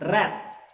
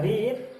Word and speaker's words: read: Ini bacanya read. Kalau di sini dibaca read, di sini dibaca read karena bentuk keduanya.